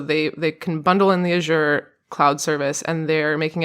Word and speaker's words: Azure: I think it's Azure. Azure. Okay. So fancy. Sounds like au jus, the sauce.